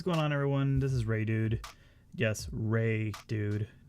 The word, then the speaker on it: Reidood: me or anything but that's how you pronounce my name I've heard it so many times pronounced in weird ways and I know my name is spelled kind of kind of funky I totally get that but it's ray dude - you know just